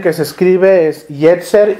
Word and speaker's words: yetzer: y Jer to la manera en que que se escribe es yetzer y e t Z e r yetzer yetzer